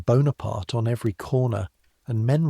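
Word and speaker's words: Bonaparte: and Paris, which 3 months ago barely knew the name Banana Aart and mispronounced it when it did, is saying Bonapart on every corner, and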